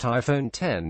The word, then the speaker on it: iPhone X: Apple event on Tuesday the iPhone X pronounced iPhone 10 is the company's first